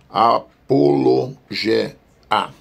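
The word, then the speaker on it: ἀπολογία: o português como Apologia que se pronuncia em grego apolog a cujo significado é literalmente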